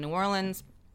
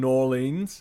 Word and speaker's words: New Orleans: I went to school in New Orleans.